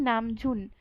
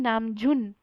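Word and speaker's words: 남준: यानी अगर पूरा नाम बोले तो वो हो जाएगा खिम नामजुन, खिम नामजुन।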